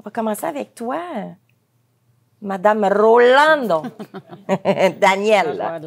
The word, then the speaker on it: Rolando: Est-ce qu'on dit Rolando ou Rolando? Rolando.